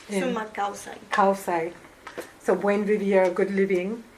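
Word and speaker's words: sumak kawsay: Sumac Kausai.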